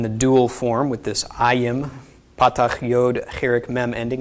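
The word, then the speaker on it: ַיִם: the regular plural, but it's pronounced ayim instead of im.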